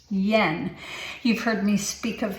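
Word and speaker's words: Jan: of you call him gen C art but the j-a-n is actually pronounced Yen you've heard me speak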